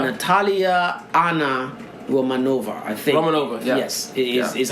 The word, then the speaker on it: Romanova: Romanova, yeah.